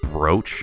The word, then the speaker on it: brooch: a It's funny that the word brooch is spelled exactly like it would sound as if it were rhyming with the word pooch but it doesn't english is the most